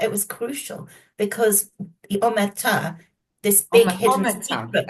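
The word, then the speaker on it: omertà: book were certain things that I hadn't come across before that I found fascinating, like now, am I pronouncing this right? Omerta. Omerta, yes, Omerta.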